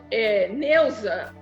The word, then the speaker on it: Neusa: Então, o que eu tinha um problema de que o pessoal pronunciar o meu nome com Z, em vez de ser com S. Não, eu sou Neuza com S.